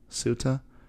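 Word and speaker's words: sutta: the subjects for contemplation sutra or suta or sutra depending on whether you're speaking paulie or sanskrit and there's a recitation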